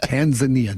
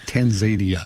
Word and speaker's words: Tanzania: I'm glad you noticed that because I practiced that. Tanzania, not Tanzania. You know, there was a